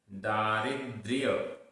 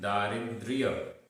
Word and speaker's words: दारिद्र्य: किम किम दारिद्र्य, आधा या भी है, दारिद्र्य दारिद्र्य मसंतोष मसंतोष दारिद्र्य मसंतोष।